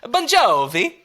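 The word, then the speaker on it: Bongiovi: a lot and I'm pretty sure it's b-o-n-g-i-o-v-i oh like a real Italian wow last name but still maybe pronounced Bon Jovi uh yeah 100 still pronounced sponge oh okay or pronounced Bon Jovi anyways it's a great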